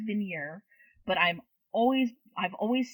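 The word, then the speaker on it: Vigenère: this it's spelled v-i-g-e-n-e-r-e i believe it's pronounced vineyard but i'm always i've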